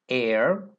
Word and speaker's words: heir: Also, there are a few words that begin with a silent H that are preceded with an. For example, heir, heiress, honest, like an honest person.